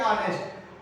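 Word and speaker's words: honest: जब ऑनेस्ट का प्रोनाउंसिएशन करेंगे तो ये आपका होता है कुछ इस प्रकार से, ये ऑनेस्ट। ऑनेस्ट के अंदर आने वाला फर्स्ट जो लेटर है वो हमारा ओ है, और ओ जो होता है वो कहीं ना कहीं जो है आपका स्वर होता है, वॉवेल्स होता है।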